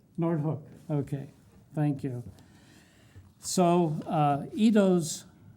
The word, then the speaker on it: Noordhoek: nelnet speaking for nelnet today will be nortek did i pronounce it right noordhoek okay thank you so itõs visionary proposal for